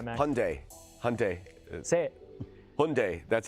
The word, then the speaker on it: Hyundai: carolina talk about that world cup right now hyundai hyundai hyundai that's how you say it okay